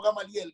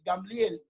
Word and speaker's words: Gamaliel: Entonces Gamaliel, sabiendo esto, no se llama Gamliel, no Gamaliel, Gamliel.